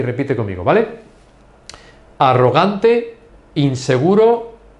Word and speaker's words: arrogante: Arrogante, arrogante. In English, arrogant. You don't pronounce the R's as strong as we do.